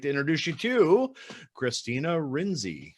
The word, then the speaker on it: Rienzi: I'd like to introduce you to Kristina Rienzi. How are you doing? I'm doing great. Thank you so much for having me, Jeff. Did I butcher your name? No, you're very close. Rienzi. Rienzi.